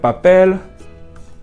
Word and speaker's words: papel: Another rule to remember is that if a word ends with an L or an R, the stress will always be on the last syllable, no matter what, and there will be no accent.